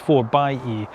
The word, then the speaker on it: 4xe: Now, when they brought the the 4xe out, and that's how you pron although it looks 4xe, it's actually pronounced 4 by E.